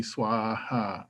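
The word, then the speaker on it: svāhā: So the way you would say this is gate gate, paragate, parasamgate, bodhi swaha. So the SVA is pronounced like swa.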